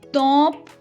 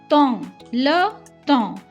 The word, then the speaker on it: temps: Here P and S are silent, it's not temps. So it is le temps means the time.